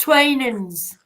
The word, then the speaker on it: Twinings: it to me I love it but it's pronounced twainans twainans and it's an English brand yeah but